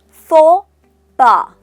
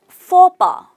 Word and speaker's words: faux pas: The pronunciation is faux pas. The letters X and S are silent. It's faux pas.